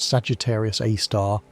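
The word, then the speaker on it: Sagittarius A*: The Milky Way's central black hole called Sagittarius A, pronounced Sagittarius A star, has a mass of about 4 million suns.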